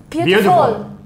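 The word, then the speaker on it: beautiful: بنقول واز واز ستارت بيوتيفول بيوتيفول بيوتيفول جود جوب عبد القيوم ليه قلنا بيوتيفول عشان التي جاي قبلها حرف متحرك وهي بعدها حرف متحرك فبيقول بيوتيفول بيوتيفول مشكله زي الكلمه زي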